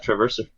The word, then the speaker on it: Traverser: Hey, Paul, I know that you've been working on a game called, if I pronounce it wrong, tell me, Traverser, is that right? Yeah, Traverser.